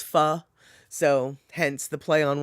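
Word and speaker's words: phở: spelt p h o that's actually not pronounced foe even though everyone says that it's pha so hence the play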